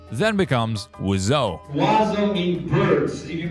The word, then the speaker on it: Wiseau: nickname Birdman and that is where the name wizo comes from bird in French is wizo which when combined with Tommy's original last name then becomes wizo wo mean birds if you put o so